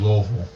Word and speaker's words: Louisville: Gotta say it right. Gotta say Louisville. You know, other people say Louis, but DJ Spazzo, you ready, my brother?